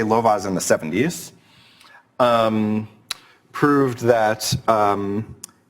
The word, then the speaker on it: Lovász: But so Lovász, and there's an accent on the A, yeah. So let me just say Lovaas in the 70s proved